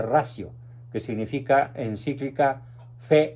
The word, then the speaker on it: Ratio: Escriben encíclica Fe y Razón, o encíclica Fides et Ratio, con T. Se pronuncia ratio, que significa encíclica Fe y Razón.